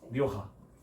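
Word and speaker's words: Rioja: 저 북쪽에 리오하. 리오아. 아, 네. 첫 번째. 리오하. 라 리오하. 네. 리오하라고 해서 H라고 생각하지 마세요. J입니다. J. RIOJ 리오하라고 했습니다.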